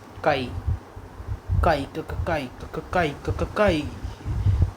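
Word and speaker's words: χ: Mole fraction में यार एक सिंबल होता है जो x की तरह दिखता है, लेकिन इसे प्रोनाउंस करते हैं काई। क्या बोलते हैं? काई।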